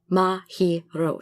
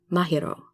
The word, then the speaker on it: Mahiro: Mahiro, but no, it's Mahiro, so it's Mahiro when you read it. All the syllables should be equal.